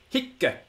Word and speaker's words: hic: But the Roman grammarians come to our rescue and tell us that this little word was pronounced with a double C on the end, which almost no one who speaks Latin nowadays does. But it's very clear that this is how it was pronounced. And if you want to get the correct weight of this word, if it appears in poetry, you have to pronounce it this way.